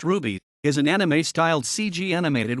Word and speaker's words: RWBY: red vs blue psa rwby pronounced ruby is an anime-styled cg